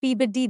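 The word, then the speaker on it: Peabody: P body P body turns out the name is pronounced pbd there just as the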